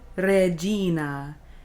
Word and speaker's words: Regina: Salve Regina. Notice the R is rolled, re, and the G is soft, Gina. Salve Regina.